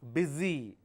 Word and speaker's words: busy: bu u s y even though you have the letter s the pronunciation is Zed busy not busy so don't look at